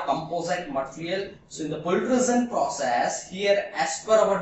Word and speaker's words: pultrusion: a pool and extrusion so you can uh pronunciate this process as a pool and extrusion that is pultrusion process so in the